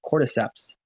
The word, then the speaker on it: cordyceps: a mushroom for energy cordyceps is the name of the mushroom sounds super weird there's an s at the end it sounds pluralized it's very strange but it's pronounced cordyceps and it's an energizing